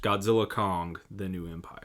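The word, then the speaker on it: Godzilla x Kong: The New Empire: US so the until further notice it is pronounced Godzilla Kong the new Empire yeah you know I guess if you really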